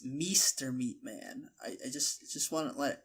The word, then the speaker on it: mrmeatman: I didn't want to correct you, but all this time you've been saying it's not Meatman. It's Meester Meatman.